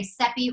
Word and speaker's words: Sepi: Safi and Valentina said I usually say sepi rhymes with Pepe to help people I'm originally from Houston